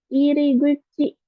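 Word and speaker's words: 入口: Lanjut, iriguchi. Iriguchi artinya pintu masuk, gitu ya. Iriguchi pakai kanji hairu. Masuk, ya kan? Ya, dibacanya iri kalau di sini. Gucinya pakai kanji mulut ya, kuci.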